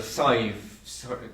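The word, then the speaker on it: Sadhbh: This is about a girl, Sive. It's a nice name, I always think, but it's not spelled S-I-V-E. It's spelled S-A-D-H-B-H, because we have no V in our language, so we substituted it to make two letters to make one letter. So B-H would be V.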